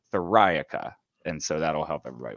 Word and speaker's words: Theriaca: friday said it perfectly it's like metallica where you emphasize that second syllable thorica and so that'll help